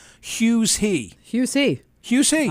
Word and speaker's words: Huw: play on his name Hughes he Hughes he Hughes he I don't know who he is because his his first name is spelled H UW his name is Hugh Edwards that's that's Hugh he